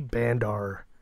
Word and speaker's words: Bandar: And Wily Bandar. No, it's Bandar. But nobody's ever going to be able to say Bandar. It rhymes with under, but it's like Bandar.